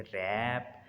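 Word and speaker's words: wrap: डब्ल्यू इज़ not pronounced at the beginning of the word followed by एन आर। अगर डब्ल्यू के बाद आर आ रहा है तो वो डब्ल्यू साइलेंट होगा। जैसे रैप, राइट, रोंग, यहाँ पर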